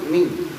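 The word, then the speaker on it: مِن: Min, minnya tadi minnya eng ming ming. Nah, itu iya ming nanti di alfalaq juga sama itu ming ming semua itu enggak ada lagi min min enggak ada ming ya.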